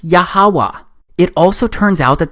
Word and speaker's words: Yahweh: But this YHWH, it's pronounced as Yahweh, because it turns out that the language was so simple back then that it vocalized each consonant with an ah sound without specifically marking that sound between consonants. So this YHWH, it's pronounced Yahweh.